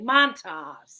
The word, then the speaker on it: Montas: Montas.